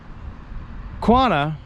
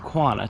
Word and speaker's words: Quanah: have to go onto the reservation system now quanah did very well living in the white man's